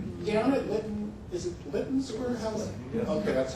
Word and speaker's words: Lytton Square: But down at Lytton, is it Lytton Square? Okay, that's how it's pronounced.